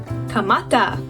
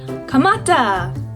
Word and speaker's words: kamata: Start in Tongan is kamata. Let's spell that out together. Kamata.